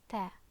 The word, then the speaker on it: تاء: the tongue and uh maybe you notice that it's different from the English tea okay because the English tea has a great aspiration when you pronounce it but this is